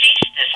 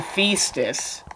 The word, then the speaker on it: Ceastus: And it's Ceastus as in Caesar. oh, Ceastus. I thought you were saying Feastus.